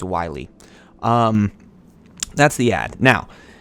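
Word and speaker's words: Whaley: toughness in columbus so i heard her pronounce her name it's wiley um that's the ad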